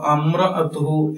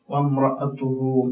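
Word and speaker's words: وامرأته: ഈ അലിഫിന് ഉച്ചാരണം ഇല്ല. ശരിക്കും അത് ഇമ്രഅത്താണ്. ഇമ്രഅ, വ പ്ലസ് ഇമ്രഅ വംറഅ എന്നായിട്ട് മാറും. വംറഅതുഹു എന്നായിട്ട് മാറാണ്. അപ്പൊ അങ്ങനെ മാത്രമേ ഓതേണ്ടുള്ളൂ.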